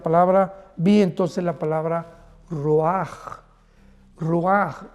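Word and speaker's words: ruach: Y es importante porque la palabra vi entonces la palabra roaj. Roaj r u a c h. La ch en hebreo se pronuncia como una j roj que significa espíritus.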